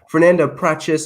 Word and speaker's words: Fernanda Prates: Show, joined here by a very special guest, Fernanda Prates.